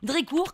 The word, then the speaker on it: Drécourt: Drécourt, comme ça se prononce, avec un T à la fin.